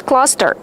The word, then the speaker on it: cluster: How do you pronounce cluster? Cluster. Use the short uh sound like up and fun.